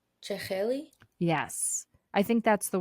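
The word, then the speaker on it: jakhli: What that word how that word is pronounced? Cheli.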